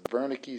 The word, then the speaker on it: Wernicke: And then within there, this Wernicke speech area, and this W is pronounced like a V. So the Wernicke speech area is the